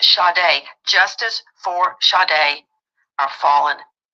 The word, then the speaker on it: Sade: spelled s a d like you would say Sade like Sage it's pronounced shade Justice for shade our fallen angel yeah ma'am